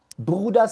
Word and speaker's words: Bruder: Bruder tiene dos sílabas. Bruder. Bruder. Y la E con la R está en la segunda sílaba. Bruder. O sea, en la última. Si está en la última sílaba, suena A.